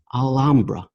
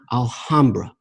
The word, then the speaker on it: Alhambra: by Toro Blanco who informed me that it's pronounced al Umbra not Alhambra but as I responded to him I'm a